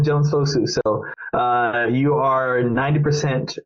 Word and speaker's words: Jones-Fosu: your kind words and you said it right the first time Jones fosu so uh you are